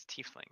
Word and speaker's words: tiefling: sets it down beside the rest the correct pronunciation is tiefling good sir ah I see the waves of